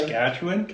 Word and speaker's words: Saskatchewan: Did I pronounce that? Saskatchewan.